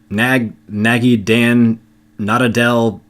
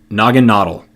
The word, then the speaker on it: Naganadel: Nagi Dan Nadadel.